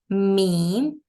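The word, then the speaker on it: ميم: have to do is we have to join our lips from the outer parts or the dry parts let's pronounce it meem by making the M and M sound in the beginning like this mem me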